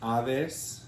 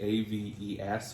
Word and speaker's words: Aves: amazing dyer on instagram as avis spelt um in the anglo-way a-v-e-s or aves fiber the american way works so avis fiberworks